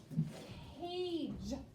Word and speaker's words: cage: job okay number four cage that c is making the k sound but the g is making the j sound because there's e remember put a